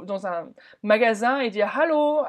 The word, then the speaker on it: Hallo: Donc déjà, Guten Tag, Hallo, avec bien le Hallo, bien le H aspiré.